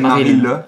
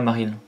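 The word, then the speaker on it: Marill: Alors c'est Maril ou Marie? Moi j'ai toujours prononcé Maril. Ouais, Maril. Parce qu'il n'y a pas de E derrière.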